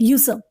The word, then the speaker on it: usurp: इट is called यूसब। What is इट? इट्स यूसब। एस लिखा हुआ है लेकिन हम प्रोनाउंस कैसे करेंगे वो बहुत मैटर करता है।